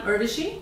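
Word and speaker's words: Urvashi: you so again I'm irishi that's spelled Ur r v a s Shi rhymes with Hershey my blog is to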